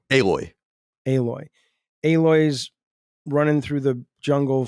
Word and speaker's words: Aloy: Aloy.